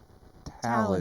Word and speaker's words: Taillon: It's like Talon, Talon. but I think it's spelled Taillon, Yeah, maybe.